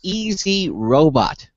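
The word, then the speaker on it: EZ-Robot: from a company called easy robot and uh I guess the emphasis is on the first two letters e and z easy because easy robot makes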